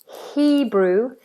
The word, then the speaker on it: Hebrew: Be careful with the H that you don't constrict it. We don't say Hebrew, Hebrew. In many languages, the H is constricted. In the UK, in English, it's not. Hebrew, Hebrew.